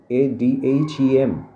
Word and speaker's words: Adhem: abu bain adam so be careful about the pronunciation adam a dhem in that way it